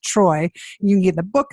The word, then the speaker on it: Treu: It's JASONTREU, but pronounced Troy.